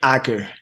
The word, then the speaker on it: Acker: do you pronounce it hacker hacker like tracker yeah Acker so uh welcome